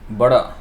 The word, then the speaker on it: boro: so buddha means great so actually it is bada b-a-d-a so that is a pronunciation i think the way it is um written in the roman translation the original way is b o r and top of the r there is a dot and then o but i